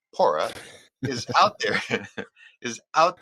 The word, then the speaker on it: PWORA: Wildfire OHP recovery Alliance the W is silent pora is out there is